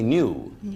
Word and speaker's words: gnu: A gnu. Spelled... A gnu. Yes. Gnu. Spelled gnu and pronounced oo.